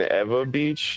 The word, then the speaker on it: Ewa Beach: good hanging in there I'm actually in Eva Beach it's it's spelled Ewa Beach now a beach AA